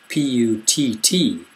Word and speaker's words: putt: short u p u t is pronounced put p u tt is pronounced putt that's the normal one um that's